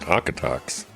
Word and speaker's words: Okotoks: We want to welcome all of our listeners from Baltimore, Bahrain, and Okotoks, Canada. How do you know it's pronounced Okotoks?